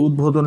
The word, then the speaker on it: উদ্বোধন: উদ্বোধন লিখি আমরা, এই যে উদ্বোধন লিখবো, উদ্বোধন উচ্চারণটা হবে এমন, উদ্বোধন হবে উচ্চারণটা, এটা উদ্বোধন।